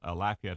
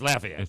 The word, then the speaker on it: Lafayette: down here, it's Lafayette, which is okay. It's Lafayette unless you're speaking in French, and it's Lafayette. Lafayette. So if you're going to speak in French, it's okay, but otherwise it's Lafayette.